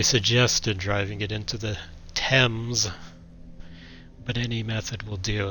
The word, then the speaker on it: Thames: But anyway, yeah, I can't believe they just pronounced it Thames, or it's supposed to be pronounced Thames, unless you're completely clueless, or like a typical American.